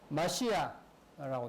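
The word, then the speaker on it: מָשִׁיחַ: 이제 히브리어는 마시아라고 되어 있습니다. 마시아.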